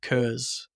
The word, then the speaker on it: Kurz: So this week's guest is Kurz. Did I pronounce that right?